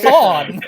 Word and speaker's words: Kason: This is Jason with a K. Kasan. Like, that's just Kasan.